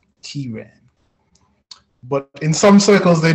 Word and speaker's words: Ciaran: It's actually pronounced Kieran, like K-E-Y-R-A-N, Kieran.